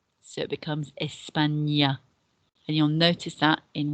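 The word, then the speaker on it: España: top of the end the accent on the n changes the pronunciation of that letter n n a to n so it becomes espanya and you'll notice that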